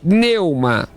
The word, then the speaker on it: pneuma: fato pneu uma é a palavra espírito de neuma neuma não não é perdeu uma não é mudo não é neuma neuma meu é isso